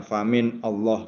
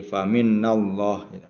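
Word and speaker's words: فمن الله: Allah ya jadi fallah Jadi ini nunnya jadi dihidupkan ya karena dia ee ada lam jalalah ya ee alif lam jalalah ya. Jadi kalau maunya dimatikan kan susah membacanya famin Allah gitu ya. Jadi faminnallah faminallah wama dan apapun asobaka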